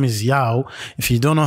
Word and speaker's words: Yaw: of that you know so instead of Yao saying my name is Yao you might have found he was saying my name is why you know to to americanize it you see what I'm